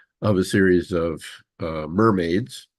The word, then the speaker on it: MRMD: a series of uh mermaids mermaid stand is uh how you pronounce mrmd which is model risk